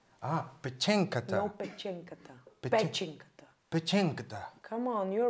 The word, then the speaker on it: Pe4enkata: Pe. Chen. Chen. Ka. Ka. Ta. Ta. Pe4enkata. Ah, Pe4enkata. No, Pe4enkata.